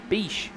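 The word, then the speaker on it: Bache: And ask him exactly how we pronounce his name. It's B-A-C-H-E. Beach.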